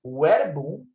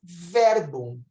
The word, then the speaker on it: verbum: E, ao invés de falarmos verbum, falamos verbum.